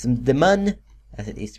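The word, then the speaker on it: Mun: carabin has two man moons uh it's the man as it is pronounced m u n m it's supposed to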